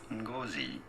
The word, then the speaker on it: Ngozi: Let me pull up where I actually have the playback of the proper pronunciation, because it is important to me that I play this for you all. Chimamanda Ngozi Adichie.